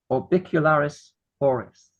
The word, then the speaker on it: orbicularis oris: The pucker muscle is orbicularis oris. Rhymes with bliss.